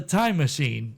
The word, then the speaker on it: Tymasheen: I was a time machine, Time Machine? but it was it was spelled like TYMASHEEN, like Tima, and then Sheen, like Charlie Sheen.